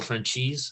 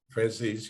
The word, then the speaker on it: Francis: I believe it's Michael Franchise. Did I say it right? Francis, yeah.